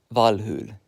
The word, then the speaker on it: Valhalla: Who knew that Valhalla was actually pronounced Valhul?